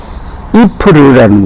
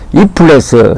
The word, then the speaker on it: Ypres: 1차 대전의 격전지로 유명한 곳이 이프르라는 곳입니다. 그 이프르 이야기를 해드리겠습니다. 이프르는 영어 표기로는 YPRES, 이플레스 이렇게 발음이 되는데 이곳에서는 이프르라고 부릅니다.